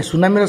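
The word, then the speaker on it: tsunami: कहली रिकमेंड कही सुनामी सुनामी spelling T रु आरंभ हो पिले आम लाड़े जो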